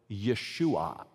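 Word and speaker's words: ישועה: recognize this word it is he has no Yeshua that's the name for Joshua Joshua means the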